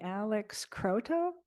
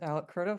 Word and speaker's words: Alec Croto: Let's see, Alex Croto? Am I pronouncing your name correctly? It's Alec Croto.